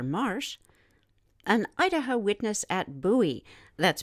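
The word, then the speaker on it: Buhl: posted by Roger Marsh an Idaho witness at Bowie that's spelled b-u-h-i reported watching three orange red rectangle-shaped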